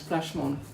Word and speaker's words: Plashmonak: Plashmon, remember you don't have the R and we don't, so it's Plashmonak, the French.